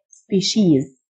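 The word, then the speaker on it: species: نوع او فصيله سبيشيز السي اي اي تنطق ش سبيشيز بالفعل اكتو التي تنطق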